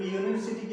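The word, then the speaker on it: university: तो यूनिवर्सिटी की बात करेंगे तो यहाँ पे देखिए ये स्टार्ट तो हो रहा है यू से, लेकिन अगर इसका प्रोनाउंसिएशन कीजिएगा तो ये कंसोनेंट जैसा होता है।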